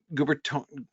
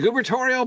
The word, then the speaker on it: gubernatorial: what's the word again gubernatorial gubernatorial pen yeah the gubernatorial pen which which uh that the word governor has such a delightful adjectival form the gubernatorial there's an extra syllable in there the gubernatorial pen uh